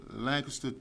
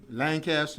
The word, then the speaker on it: Lancaster: I also noticed you pronounce Lancaster two different ways, and you want to make sure everyone understood you. That's right. Lancaster and Lancaster. That's right. Yeah. Nothing wrong with that.